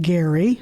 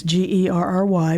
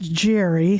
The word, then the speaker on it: Gerry: pronounced his last name Gerry. Mm-hmm. It's Gerry, but it's a hard G. Some people have thought that is pronounced Jerry, so yes.